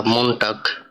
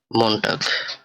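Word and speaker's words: Montag: Next ওয়ার্ডটা এম দিয়ে, এটা লেখা মনটাগ অর্থাৎ মানডে বা সোমবার। এটার উচ্চারণটা হবে এম ও এন টে আ গে, মনটাগ অর্থাৎ মানডে বা সোমবার।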